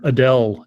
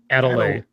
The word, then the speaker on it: Adele: Medicare video, and he pronounced the music star Adele as Adelaide.